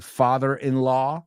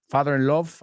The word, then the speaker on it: father-in-law: Okay, so vamos a pronunciar father-in-law, no love, father-in-love, I've heard people say. It's father-in-law.